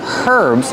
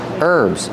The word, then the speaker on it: herbs: These are called herbs remember with herbs the H is silent don't say herbs it's herbs these are herbs but